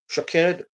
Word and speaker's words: Shaked: button subscribe subscribe please my name is shaid that is how you can pronounce my name shaed sha Sports gu show